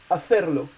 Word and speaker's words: hacer: And hacer is a word that's ending with a consonant, so it's stressed on the last syllable.